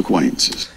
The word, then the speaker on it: acquaintances: 어 발음이 굉장히 약해져요.